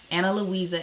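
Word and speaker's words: Ana Luisa: their website you go to the right place anna louisa is spelled a n a l u i s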